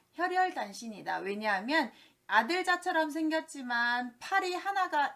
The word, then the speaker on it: 혈혈단신: 두 번째 호롤단신이라고 하는데요. 우리가 세상에서 혼자 사는 걸 호롤단신이라고 하는데 그게 아니라 혈혈단신이라고 하셔야 됩니다. 호롤단신 아니다. 혈혈단신이다.